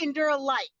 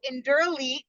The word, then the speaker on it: Endure Elite: They call it Endure Light, right? That's yes. what it looks like. So it's the word endurance mixed with the word elite. So Endure Elite is how you say it, and it's part of like the whole PR with the company right now is trying to figure out how to get people to say it correctly is probably never going to happen.